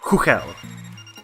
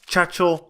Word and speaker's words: Chuchel: and its main protagonist it's who Kel not to tell not Churchill not to chew and nor Churchill its who he'll trust me the game is made by Czech developers I am Czech and I do know how the words pronounced and if anybody is